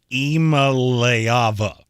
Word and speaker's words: Iamaleava: By the way, I was instructed it's Iamaleava.